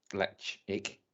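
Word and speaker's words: Ledaig: from the electric well the brand name is is electric l-e-d-a-i-g but kel woman gaelic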